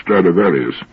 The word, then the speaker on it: Stradivarius: anybody if he's ever heard of stradivarius which is the latin pronunciation of the name throughout history there have